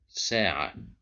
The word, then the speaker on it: ساعة: Here we have the letter sin controlled by fatha, and then we have alif. So a letter controlled by fatha plus an alif means that we have the long vowel of mad bil alif, which makes us pronounce it with a stretch. ساعة.